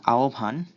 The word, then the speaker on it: আহ্বান: এরপর হয় বয়ের জায়গায় ওপ যদি আ বা ও এর পরে থাকে তাহলে, অথবা উপ যদি ই বা উ এর পরে থাকে তাহলে লিখতে হয়। যেমন আহ্বান, এখানে আয়ের পরে হয় বয় সংযুক্ত আছে, এ কারণে হয়েছে ওপ।